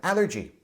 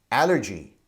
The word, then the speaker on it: allergy: I'd like you to pay attention to the pronunciation of caffeine and Allergy caffeine caffeine allergy allergy a lot of people mispronounce those words